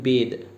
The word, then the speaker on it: bathe: We add E as suffix and its pronunciation changed and became bathe.